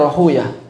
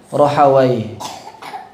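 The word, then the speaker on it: راهويه: Sama seperti Ibnu Rahuyah. Ahlul hadis bacanya Rahuyah. Kalau ahlul fikih bacanya Rahawai.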